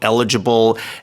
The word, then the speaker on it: eligible: The stress is on the L, right?